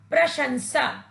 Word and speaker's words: प्रशंसा: बच्चों, इस शब्द में स का प्रयोग करने से यह शब्द अशुद्ध हो गया है। इसका शुद्ध उच्चारण होगा प्रशंसा।